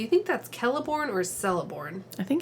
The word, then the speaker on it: Celeborn: Do you think that's Celeborn or Celeborn?